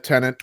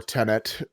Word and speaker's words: Tenet: So yeah, this is Tenet or Tenet, if you're me and can't pronounce it, but it's definitely Tenet in the movie.